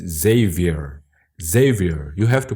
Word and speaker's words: Xavier: My name is not Xavier, as in Portuguese. My name's Xavier.